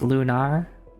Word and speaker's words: Lunar: Also, it's pronounced lunar. So, just emphasis on the nar and and not lunar like you know being of the moon.